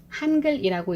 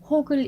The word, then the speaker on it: 한글: 계시는 화면이 뜰 거에요 간혹 이 프로그램을 한글 이라고 일지 않고 혹을 일하고 있거나 훙 글 이라고 읽으시는 분들이 계세요 아래아 한자 로 쓰여 있는 거라서 한글이 라고 읽으시면 됩니다 실행에서 들어오시면 집에 제일